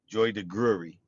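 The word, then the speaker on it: Joy DeGruy: He he mispronounced her name, but Joy de Gury in the book uh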